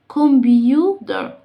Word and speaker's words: computer: طب أنا دلوقتي عندي التي برضو ما بين ايه؟ two vowels، ما بين حرفين متحركين، فأقولها ازاي؟ كمبيوتر كمبيوتر كمبيوتر. والار اللي في الآخر بقويها، يعني شبه نطق ايه؟ water water. كمبيوتر.